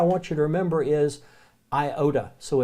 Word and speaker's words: iota: but what I want you to remember is I ohta so it's iota ADA Sigma now you notice